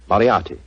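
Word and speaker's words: Moriarty: mispronounce it i'm afraid i'll have to begin calling it the way it looks m o r i a r t y mariarty i shall remember that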